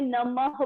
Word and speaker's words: नमः: हम बोलते कैसे हैं, इनका उच्चारण कैसे करते हैं, इनको प्रोनाउंसिएट कैसे करते हैं, ह बोल के। देखो मैंने नमः बोला, ह की आवाज आई ना आपको, इन दो बिंदुओं को आपने कैसे पढ़ना है, नमः, ह पढ़ना आपने।